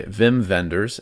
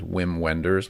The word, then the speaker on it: Wim Wenders: This one is directed by Wim Wenders, and I'd say it like that because he is German. So when I saw it the first time, I thought his name was Wim Wenders, which sounds like a